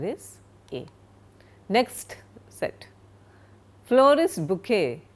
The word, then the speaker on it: bouquet: Florist bouquet. It's not pronounced at bouet. It's a French word bouquet.